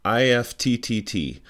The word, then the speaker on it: IFTTT: In this video, we're going to learn about a wonderful tool called IFT, I-F-T-T-T, but IFT really is the way that you're supposed to pronounce it.